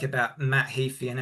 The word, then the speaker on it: Heafy: Oh, I think I keep saying Heafy, but it's Heafy.